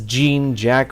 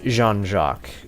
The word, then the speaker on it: Jean-Jacques: Ace Runner and yes I know it says Jean Jack or John Jack but uh it's Jean-Jacques that's how the game literally pronounces it he's our Ace Runner